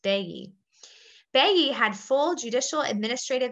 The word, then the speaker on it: baillis: And it's a French word, so it's not pronounced at all the way that it looks. Here's how it's spelled in the chat pod, but it's pronounced baillis.